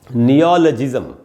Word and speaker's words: neologism: नियो में जो अ है उसी पर स्ट्रेस है, वहाँ आपको ज़्यादा रुकना चाहिए। उसके बाद नियो के बाद ल के बाद आधा अ है, ल पर थोड़ा